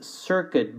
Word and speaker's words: circuit: The next word is circuit board. Circuit board. Notice that there's no U being pronounced, so make sure you don't pronounce it, okay?